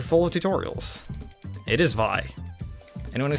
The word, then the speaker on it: Vi: The bee's name is Vi, and it is pronounced Vi because it's short for Violet.